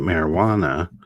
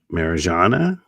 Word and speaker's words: Marijana: I know your name isn't marijuana. Um, although I bet everyone calls you marijuana, don't they? Marijana.